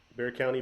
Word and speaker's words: Bear County: So that was Rod from uh, Bear County Bigfoot, and it might look like Bexar County to some of you guys,